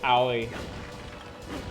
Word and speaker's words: aoi: If you're thinking of the Japanese word for blue, yeah, it's aoi.